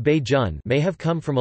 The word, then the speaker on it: Bajan: are officially called barbadians the term bajan pronounced baijun may have come from